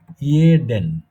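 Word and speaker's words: jeden: জার্মানে এটাকে বলে ইয়োট এই ইয়োটটার উচ্চারণ আমাদের বাংলাতে রস্বই অন্তস্থ দিলে যেরকম হয় ঠিক এরকম যেমন আমি একটা শব্দ এখানে লিখি ইয়োট এতে হলো ইয়ে ওই যে রস্বই অন্তস্থ তার সঙ্গে ইয়ে ইয়েডেন ইয়েডেন না ইয়েডেন ইয়োট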